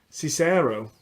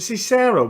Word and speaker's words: Cicero: I've got Trish Cicero. Is it Cicero pronounced?